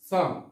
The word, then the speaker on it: psalm: এখানেও পি অক্ষরের উচ্চারণ হয়নি। তারপর হচ্ছে সম, সম।